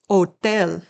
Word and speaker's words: hotel: I say it's the easiest because you don't even pronounce it. It's silent. Listen to the letter H, or actually the lack of a sound for H in the example words. Hotel, ilo, abl.